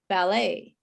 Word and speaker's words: ballet: is a french word we don't say the t at all and the e t is pronounced a ballet ballet and sometimes it's